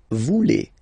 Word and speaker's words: voulez: Same thing here, classic ending EZ for vous, but then you pronounce it et. Vous voulez.